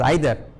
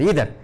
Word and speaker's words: either: told their story sir he is pronouncing it as either and i am pronouncing it as either which is the right way sir professor thought for a while and said smiled and said uh huh it can be found in either way he added one person